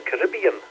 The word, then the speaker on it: Caribbean: Looking at the Hurricane Beryl, working our way through the Caribbean there, or the Caribbean as some people pronounce it.